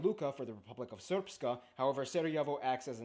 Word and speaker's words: Srpska: Herzegovina is divided into the Federation of Bosnia and Herzegovina and the Republika Srpska. I know, it looks like it's pronounced Srpska.